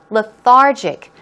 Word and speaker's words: lethargic: here we go with the stress goes on the second syllable lethargic some synonyms are sluggish